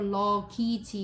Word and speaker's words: luggage: luggage는 이거 luggage 이렇게 써 있거든요. 우리 language 할 때도 A가 E 발음 되는데요.